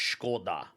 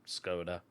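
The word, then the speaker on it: Škoda: or is it Octavia I think actually scod is pronounced scod rather than scoda anyway I've got a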